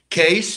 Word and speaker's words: Cees: Case, but the CEES, like spelled in Holland. But we say C-E-S-E, so we will pronounce Case as well.